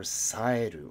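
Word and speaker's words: 冴える: Go. Ko are our alternate pronunciations, or saeru, our intransitive verb for being clear, alert, or skillful.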